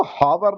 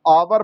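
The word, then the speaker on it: hour: यहाँ इसको हावर नहीं पढ़ रहे हैं, यहाँ इसको आवर पढ़ रहे हैं। और आवर्स, आ साउंड जो है वो वॉवेल साउंड है, और हम लोग हमेशा उच्चारण से निर्देशित होते हैं।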